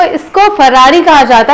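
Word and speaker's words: Ferrari: सो देखने में लगता है ये फिरारी होगा, बट ये फिरारी नहीं होता इसका प्रोनाउंसिएशन। सो इसका प्रोनाउंसिएशन होता है फरारी, ना कि फिरारी।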